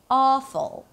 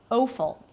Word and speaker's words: awful: Awful, and not awful.